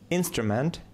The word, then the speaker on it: instrument: Fantastic Fantastic Fantastic Fantastic instrument instrument instrument instrument instrument instrument instrument instrument ударение на первый слог classical classical classical classical